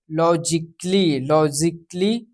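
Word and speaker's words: logically: यहाँ पे लॉजिकली यहाँ पे जो है ए जो है साइलेंट रहेगा हमारा।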